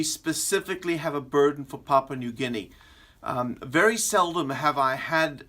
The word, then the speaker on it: Papua New Guinea: pronounce the name and he said it's Papa Papa knew and I said is it Papua New Guinea and that's the country